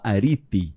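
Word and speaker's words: ἀρετή: Porque virtude em grego se escreve areté, mas fala arite, né?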